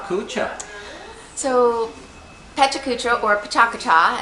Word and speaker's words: Pecha Kucha: relations person behind is PETA cucha so Amy what is PETA cucha so Peta cucha or Paka as it's pronounced in Japanese is a um was